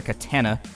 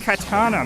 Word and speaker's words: katana: getting slashed with a katana during the course of all and i know i mispronounced that wrong for a reason i know somebody will be down in the comments it's pronounced katana man it's all right calm